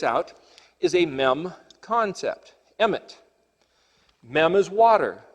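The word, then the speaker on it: אמת: The word Alef Mem Tav is pronounced in English emet, which is the word truth. So the word emet is the word truth,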